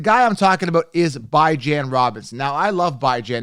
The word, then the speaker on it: Bijan: It's Bijan, like J-A-N, like Jan as in ran, right? I ran to the market. I don't say, I bond to the market, right? Like, Jean Bond, right? Again, ran, tan, Jan. B-I as in bi-weekly, right? Jan. Okay, so I want to hammer this on.